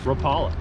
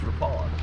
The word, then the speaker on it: Rapala: question grappler or rapala on the west coast we always mispronounce it as rapala see and that's what we're talking about yesterday like everyone remember yeah okay but then you go across the river to wisconsin it's rapala in some place crazy we